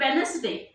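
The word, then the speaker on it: Wednesday: okay sophisticated अगर अब वेनसडे वेनसडे का स्पेलिंग क्या है डब्लू ई डी एन ई एस लेकिन डी तो साइलेंट मोड है दिस ऑल वी स्टार्ट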